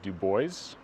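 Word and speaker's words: Dubois: continuing Southeast through Wyoming to a town called Duo I've been told it's pronounced that way by the locals it looks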